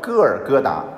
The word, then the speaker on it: 哥爾哥答: 其实我们的中文圣经你看写得很清楚啊，叫哥尔哥达，还是用了原来的